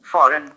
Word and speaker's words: foreign: Christmas, Christmas, फॉरेन में जी silent है, मैं आपको सुनवाता हूँ ये कैसे बोला जाएगा। foreign, foreign, foreign, ठीक है, आपने सुना ये कैसे बोल रहे हैं, फॉरेन, जी नहीं आ रहा है उसमें।